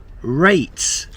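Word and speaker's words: reyt: Rate. That's what Barnsley fans say for rights. They spell it R-E-Y-T.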